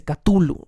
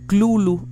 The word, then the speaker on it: Cthulhu: como una caja catullo pero de todas las pronunciaciones tulum me parece la más debatible catullo la más errónea y lulú la que el mismo lovecraft decía que era la correcta i